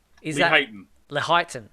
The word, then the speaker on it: Lehighton: in the is it Leighton? Is it? I think it's. How do you pronounce this? You're better than I am on these pronunciations. Is Lee that Heighton. Lehighton? Okay, and that's Lee in Heighton.